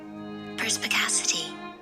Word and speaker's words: perspicacity: saying it right let's turn up my uh pronunciation perspicacity oh i was perspicacity the quality of having